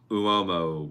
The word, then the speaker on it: Uomo: Valentino Uomo, born in Roma. It is Uomo, William. Yes, the bottle is spiky, and the liquid inside is white, I believe.